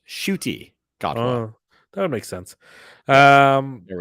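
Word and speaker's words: Ncuti Gatwa: So Oh, his name is pronounced Shuti Godwa.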